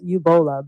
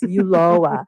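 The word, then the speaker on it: Ulloa: Starts with a U. Uloa. I almost said Ubola, but it's Uloa.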